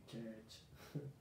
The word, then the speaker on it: church: Y si tengo una CH y tengo otra CH, y esto es una E larga, una schwa larga, mejor dicho, church.